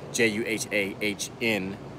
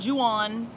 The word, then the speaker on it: Jahan: It's Jahan. Jahan. Not Juan. Not Johan. Not Johan. Jahan. Jahan. Just like, Jahan. Like an extended John.